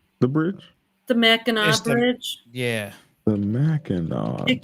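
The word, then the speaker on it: Mackinac: The Meno Bridge. Yeah, the Meno. It connects the trolls to the Yupers. The Meno. Uh, but the C is silent.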